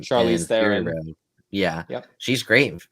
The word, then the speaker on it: Charlize: But even Charlie Theron, or how do you say her last name? Charlize Theron.